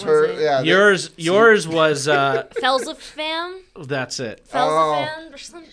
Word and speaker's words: Phelsepham: Trenches of Felzafan. What? Oh my god. Felzafan. Okay. Felzafan. Right? Felzafan. Okay. There's a Felzafan. Felzavam.